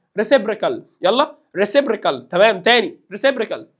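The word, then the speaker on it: reciprocal: لك سعادتك هات الريسيبريكال في بعض الطلاب بتقراها ريسبروكال طبعا غلط مش عارف ريسبوركال طبعا غلط انطق معايا ريسيبريكال يلا ريسيبريكال تمام تاني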